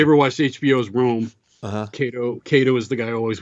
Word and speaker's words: Cato: you pronounce it it's benedict tiberius kato kato benedict tiberius cato cato okay so kato like kung fu kado they're all heroes from